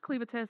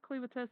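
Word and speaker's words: Clevatess: We have Clivates. Still not sure that's the correct pronunciation, but that's what we're going for. It is Cleavitas. He says Cleavitas in the show. Okay. Cleavitas.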